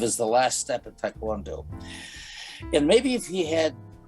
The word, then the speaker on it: taekwondo: Oh, and I'm not sure how you pronounce this, but he enjoys his taekwondo?